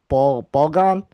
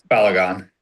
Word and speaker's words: Balogun: We have a lot of goal scorers on this team, and one of them is, um, hopefully I can pronounce this right, Florian Balgon. Balogun. Belgon, thank you.